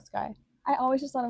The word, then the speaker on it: SCY: Is it like Is that how you pronounce S C Y? Yeah, like Sky.